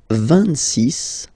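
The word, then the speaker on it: vingt-six: 26, 26. So remember it's ending with X, but then we pronounce it S.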